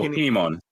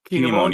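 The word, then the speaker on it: Kin'emon: But like I forgot that I am gonna butcher his name, so I'm gonna have you pronounce it. The fire samurai with the 2 swords. Oh, Kinemon. Kinemon.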